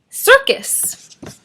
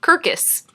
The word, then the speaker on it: circus: And rule 2, remember, C says k, but before an I, E, I, or Y, it says s. So that's why it's circus and not kirkus.